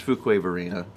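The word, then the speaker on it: Fuquay-Varina: still have no clue how to pronounce fukuov arena it's fuquay marina we also we had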